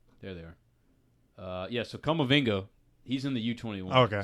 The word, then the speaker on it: Kamavinga: And Ndombele and Kamavanga from Rennes. Kamavinga, the 18-year-old.